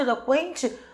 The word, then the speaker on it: eloquente: O que eu acabei de falar, o trema caracteriza que aquele U tem som, pronúncia fraca, por isso que toda vez que tinha trema, eu considerava o U uma semivogal.